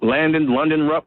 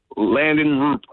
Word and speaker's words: Landon Roop: London Rupp? How you pronounce his guy's name? Landon Roop.